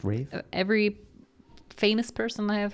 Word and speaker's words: Ralph: Also, it's Ralph, right? No, it's Rafe. It's pronounced Rafe.